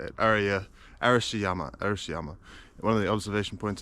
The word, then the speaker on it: Arashiyama: Right now I'm in the Arashiyama Forest Park, which is like on the outskirts of Kyoto City.